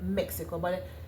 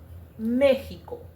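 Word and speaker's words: México: For example, in the word Mexico, that's how we as English speakers would call it, Mexico. In espanol, Mexico. So the X, you would substitute it with the H or the J.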